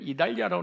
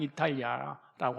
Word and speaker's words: 이탈리아: 사도행전 27장 1절에 우리가 배를 타고 이탈리아로 갈 일이 작정되매, 근데 우리 성경에는 이달리아라고 나오는데 지금 우리가 발음상 이탈리아라고 하죠.